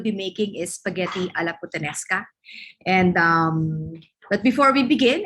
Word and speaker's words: puttanesca: Um, Basically, spaghetti alla puttanesca, pronounced as puttanesca, is Italian dish.